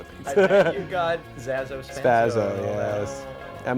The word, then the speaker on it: Zaso: It's Zaso.